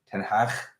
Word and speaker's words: Ten Hag: Ten Hag. Is what the Dutch really want to pronounce as, but I'm not going to do that every time.